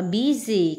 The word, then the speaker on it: busy: Chúng ta đọc là busy, không phải là busy đâu. Cái chữ sờ có hai cách phát âm là s và z.